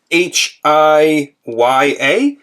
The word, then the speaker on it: HIYA: HIYA or HIYA? I don't know how to pronounce it. It's HIYA.